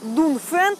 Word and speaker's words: Dongfeng: даже выговорить не могу пишется Донг фн произносится дунфэн а на машине вообще